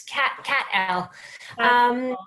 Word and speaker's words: Cattell: Okay, what about Cattell? Did you pick one? Am I pronouncing your name okay? It is Cat L.